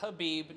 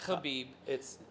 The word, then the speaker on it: Khabib: It is Khabib, not Khabib. I've heard it pronounced both ways.